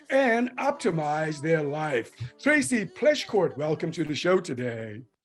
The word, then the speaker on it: Pleschourt: end personal suffering and optimize their life Tracy pleschcourt welcome to the show today thank you is